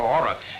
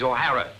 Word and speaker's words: O'Hara: do you remember saying my name is not for horror it is o'hara here mr o'hara yes